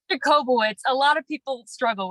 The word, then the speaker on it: Jacobowitz: it's Jacobowitz.